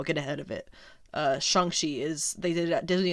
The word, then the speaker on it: Shang-Chi: a disney investor day he said it shangxi then so i'm assuming they're going to be doing that in the movie i got to say it right uh at least gotta put in the effort to say it right at the very least so with the characters